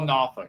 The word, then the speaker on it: Norfolk: Norfolk. They call it Noffk.